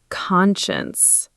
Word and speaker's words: conscience: The correct pronunciation is conscience. Think con like con artist and shuns like shuns a bad idea.